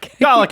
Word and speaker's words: Dalek: Sorry, I kept Dalek is fine. Dalek? They call themselves Daleks. Dalek. They always pronounce it like that.